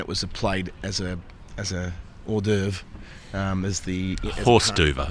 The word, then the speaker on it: hors d'oeuvre: Yeah, when you consider that when it was played as a hors d'oeuvre, horse d'oeuvre. The correct pronunciation in French is a horse d'oeuvre.